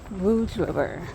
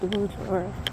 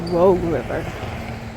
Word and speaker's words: Rouge River: Rouge River. Also, that's what it is. Rouge River. I keep want to call it Rogue River, but it pronounced Rouge.